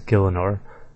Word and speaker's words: Gielinor: I actually never really said it, actually I always just said RuneScape, but the correct pronunciation is Gielinor, which isn't too bad at all really.